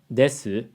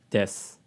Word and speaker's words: です: There's another comment that said she pronounced des as desu instead of des. 今の日本語の一番のチャレンジは、でとえにがとです。 But this doesn't make any clear semantic differences. Whether you say des or desu, the chances are we probably wouldn't even notice.